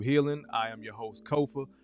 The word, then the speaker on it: Kofa: I am your host, Kofa, Kofa, not, not, not kofi, or any variation thereof. Kofa, easy to say, easy to spell. Kofa rhymes with sofa.